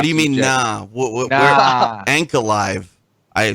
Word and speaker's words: Ankalaev: Ankalaev. I said it correctly. Ankalaev. That's not what he says. Ankalaev. I don't hear him say that. Yeah. There's an A. And I hear the 4 syllables there, TJ.